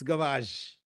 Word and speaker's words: gavage: a process called garage so it's not garbage it's not cabbage it's gavage a tube is inserted